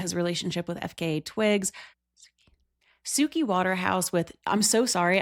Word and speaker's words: Suki: relationship with FKA Twigs, Suki Waterhouse with I'm so sorry, I'm hooked on phonics. Anytime I see the word, I want to say sucky. I know it's Suki.